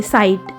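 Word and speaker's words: sight: ऐसे ही ये SI साई और GH साइलेंट है तो ट, साइलेंट वाले को नहीं पढ़ते, साइट।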